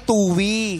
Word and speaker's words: Tuy: Ang pagbigkas na ay Tuwi.